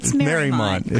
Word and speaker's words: Mariemont: It's spelled Mariemont, but it's named after Mary Emery. If you're from there, you know it's Mariemont. You got it. But if you're not from there, you call it Mariemont.